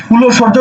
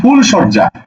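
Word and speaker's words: ফুলশয্যা: করছো তাই তুমি লিখছো কিন্তু এটাকে কি তুমি ফুল ও সজ্জা উচ্চারণ করছো তুমি তো ফুল ও সজ্জা বলছো না বলছো কি ফুল সজ্জা সুতরাং এই জায়গাতে তোমাকে হসন্ত দিতে হবে তুমি ওকার দিতে পারবে না এই হলো পার্থক্য কথা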